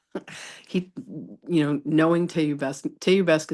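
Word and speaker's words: te iubesc: Teubesque is how you say I love you in Romanian.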